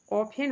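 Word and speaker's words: often: ऑफन हो गया, ऑफन में भी टी साइलेंट है।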